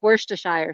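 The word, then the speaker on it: Worcestershire: w w in Chicago that's worshire sauce you're say I've heard it I've heard it pronounced Shire yeah that's dumb tster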